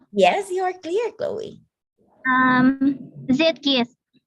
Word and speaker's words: Zeitgeist: So remember in German, when you see the letters E and I, pag magkasunod yan, it's pronounced as I.